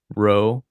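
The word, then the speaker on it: rho: p ri So this is ro, pronounced like an English r, but it looks like an English p.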